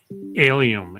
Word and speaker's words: Alliaume: Alliaume. It's almost like alien except with an M.